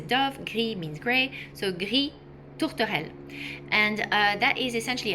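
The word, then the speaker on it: gris tourterelle: So, the first one is Gree Tortoell. Tortoell is a dove. Gree means gray. So, Gree Tortoell.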